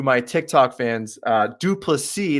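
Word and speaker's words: Du Plessis: Tick Tock fans uh duplicity that's the correct way to pronounce it part of the South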